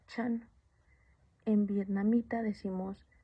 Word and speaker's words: Chan: En chino se pronuncia chan.